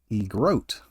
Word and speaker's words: egrote: The third word starts with an E, and it is egrote. That is spelled E-G-R-O-T-E.